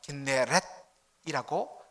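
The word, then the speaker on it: כנרת: 이 긴네롯, 더 정확하게 말하면 긴네렛이라고 그렇게 발음이 되는데, 여러분 이 긴네롯은 그 의미가, 히브리 의미가 바로 하프입니다.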